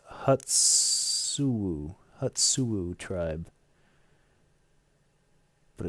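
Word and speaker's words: Hoochinoo: It's pronounced Hutsu.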